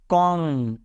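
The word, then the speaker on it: comb: एम के बाद बी आया तो बी साइलेंट है तो क्या बनेगा? कॉम, राइट, कॉम्ब नहीं पढ़ते इसको, बॉम्ब, कॉम।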